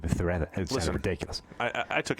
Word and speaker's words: Zubizarreta: Yeah, like there was a goalkeeper years ago whose name was like Zubizarreta with Z's, and you turn them into So THs. It's not really how you say it in Spanish. So it's like Zubizarreta.